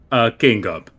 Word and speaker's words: King Gub: King Gub. Don't look King too Gub. much into the name. I can't tell if it's 2 syllables or 3 syllables.